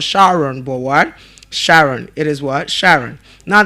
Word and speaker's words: Sharon: And the name is pronounced as what? Sharon. It's pronounced as what? Sharon. And not Shaun. It's not Shaun.